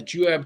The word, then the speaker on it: Juab: I think I saw that you've got is it Juab? Did I pronounce that right? Yeah, the Juab Cowboy Poetry Gathering in Nephi, Utah, coming up on the 24th and the 25th.